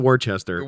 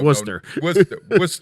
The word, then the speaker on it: Worcester: leo right or or it's not worchester chester it's not even no no worcester worcester but yeah then you get